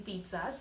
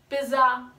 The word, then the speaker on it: pizza: board is my personal favorite I love eating pizzas but I've seen a lot of friends of mine calling it incorrectly they call it Pizza Pizza Pizza Pizza Pizza so these are all